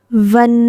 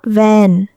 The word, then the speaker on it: Ven: Ven, not Vin, she corrected gently, the tone subtle but distinct.